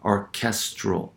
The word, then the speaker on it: orchestral: letter extending and it the stress occurs on the penultimate syllable because of the presence of STR orchestral right in that that